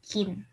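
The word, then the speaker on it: 金: Bacanya Kin. Gitu ya.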